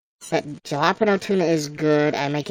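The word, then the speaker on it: jalapeño: You know, it's spelled jalapeno, but it said like jalapeno.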